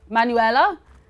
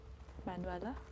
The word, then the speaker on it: Manuela: get our treasure my name is emmanuel uh manuel manuela is how you pronounce it manuela i always feel awful